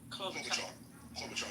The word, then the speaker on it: Klobuchar: Tim Walz asked him to kill Senator Amy Klobuchar, whatever I pronounce her name, the one from over there in Minnesota also. Klobuchar, yeah.